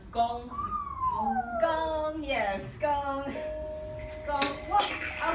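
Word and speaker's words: 弓: And it's pronounced gong.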